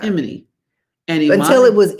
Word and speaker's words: Imani: at my house, and he pronounced her name Imani. As the majority of my Jamaican relatives, actually all of them pronounced it like that. Imani.